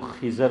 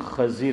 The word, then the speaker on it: خضر: دیکھیے بعض لوگ خضر بولتے ہیں اور لڑکے کا نام بھی خضر رکھتے ہیں، صحیح تلفظ خضر ہے.